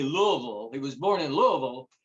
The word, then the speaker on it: Louisville: knew that he was born, as they say, Louisville.